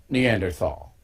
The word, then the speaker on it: Neanderthal: And he mispronounced Neanderthal, which I did too. It's Neanderthal.